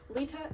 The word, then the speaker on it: Litta: below it is all under the same name Lita is Juno not Littles is Jun you know people on Twitch for some reason mispronounce my name like that very frequently and